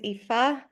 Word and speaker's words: Aoife: My name is Aoife. I know it is completely different to how it sounds, but that's how it's pronounced.